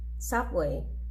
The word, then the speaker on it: subway: the main stress in these two syllable words subway traffic garage police as you can see in the first two words the syllable which is stressed is the first one subway traffic and in the second